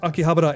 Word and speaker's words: Akihabara: It's like you'll hear Chris say Akihabara rather than Akihabara. I believe Akihabara is the correct pronunciation, but a lot of people say Akihabara.